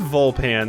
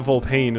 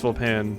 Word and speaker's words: Vulpan: already oh you know it is vulpan that's how they that's how the narrator pronounced it okay that must be where i got it from so it's not volpane it's full pan and better already cover